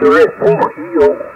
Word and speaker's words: Refugio: No, the correct Spanish pronunciation is refugio. Refugio.